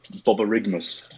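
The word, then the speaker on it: borborygmus: we have I particularly in like firstly it's Bubba rig MMus we looked it up on YouTube that's how you pronounce it and it is our technical term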